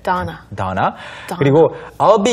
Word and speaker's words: Donna: 이 Donna라고 할 때 어, 이 발음이 영어에는 있지만 우리말에는 잘 없죠. Right, 그리고, it's not there. 네. Donna.